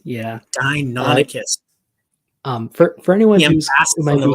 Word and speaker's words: Deinonychus: Although his is like dino as in dinosaur, and yours is dino as in Deinonychus, I think it is. Is that right? Deinonychus, yeah. Deinonychus.